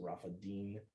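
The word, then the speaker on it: Rephidim: departed from Rafa Deen so that's how uh best I would pronounce that you have an N there instead of an m so Rafa Deen um came into the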